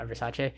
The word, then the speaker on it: Versace: designer gianni versace uh versace uh that's actually how the brown names pronounce i believe and um with that